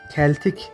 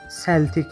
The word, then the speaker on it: Celtic: Bu kelime aslında İngilizcede keltik diye okunur. Fakat takımın ismini söylemek istersek bu kelime seltik diye okunmaktadır. Glasgow'un diğer bir takımı olan Glasgow Rangers ile kıyasıya bir rekabet halindedir.